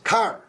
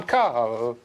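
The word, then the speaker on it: Karl: I'm Carl. Car. It's not car, it's Carl.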